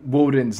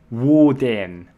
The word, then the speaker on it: Woden: Now, pronouncing Woden's name is twofold. The first of which is Woden. Woden.